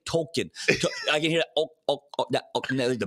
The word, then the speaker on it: Tolkien: If you watch all those episodes before, they weren't saying Tolkien. They were saying Token.